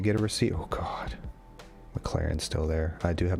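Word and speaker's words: McLaurin: a receipt oh god mclaren's still there i do have mclaren above i think lauren think of it kyle allen above them all mclaren mclaren mclaren like lauren there's a you in there there's i know i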